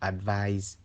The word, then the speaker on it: advise: The ise ending of advice is pronounced like ice, while the ise ending of advise is pronounced like the eyes in realize.